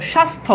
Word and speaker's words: স্বাস্থ্য: না ঠিক আছে এরপর খেয়াল করে দেখো স্বাস্থ্য এই যে এখানে দেখো যুক্ত ব্যঞ্জনের সাথে জফালা আছে এজন্য এখানে জফলার উচ্চারণ নাই সন্ন্যাসী যুক্ত ব্যঞ্জনের সাথে